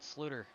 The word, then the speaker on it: Sluter: I have information that the 94 is pronounced Sluter.